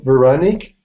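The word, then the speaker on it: Veronique: Vernon what is it it's uh veronic it's like Veronica without the a H okay veronic is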